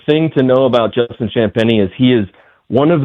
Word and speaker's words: Champagnie: At first I thought he was saying his name wrong but his name is Champagnie.